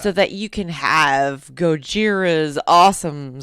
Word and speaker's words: Gojira: would sound just like Gojira. Which I don't think that's how they say it in France. Would it? Gojira, I think it's actually Gojira. Gojira. I think they would say it like that, but anyways.